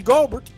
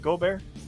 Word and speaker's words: Gobert: You broke up Rudy Gobert. Gobert, yeah. Gobert. Listen, my wife is French. You better pronounce that correct.